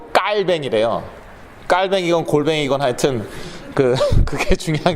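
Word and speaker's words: Calvin: 스위스로 이제 갔지만, 그래서 그게 칼빈이 아니라 그건 영어식 발음이고 깔뱅이래요.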